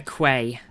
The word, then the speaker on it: quay: The bed key is one of those unfortunate English words that looks nothing like how it's pronounced. It's very annoying, isn't it? A a quay.